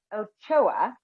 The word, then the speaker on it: Ochoa: I'm your host and fellow wellness provider, and today I have Bridgette Ochoa. I'm hoping I'm pronouncing that correctly.